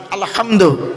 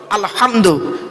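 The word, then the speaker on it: الحمد: না বাপ রাব্বিল আলামিন আলহামদু আমার মা বোনেরা ভালো করে ফলো করুন আলহামদু আলহামদু হাউজ নয় গলার ভেতর থেকে এটা উচ্চারণ করবেন আলহামদু আলহামদুলিল্লাহি রাব্বিল আলামিন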